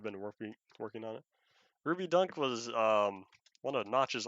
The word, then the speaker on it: Ruby Dung: ruby dung tests or ruby dunk i think it's pronounced dunk the g is supposed to be a k um yeah all the